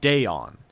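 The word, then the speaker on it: Deone: deon buchanan now it's spelled dion but it's pronounced deon so deon buchanan he'll come in play i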